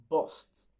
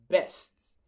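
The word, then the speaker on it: burst: So bust is a wrong pronunciation. All right. So how then do you pronounce this? It is best. B then a long a sound then st. It's just like saying best.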